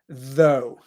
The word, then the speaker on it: though: Like you have the letter O, O, and you put the voiced TH before it. Though.